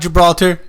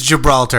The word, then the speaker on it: Gibraltar: didn't know is that that's not Gibraltar this is Gibraltar as John Oliver would say love your geography god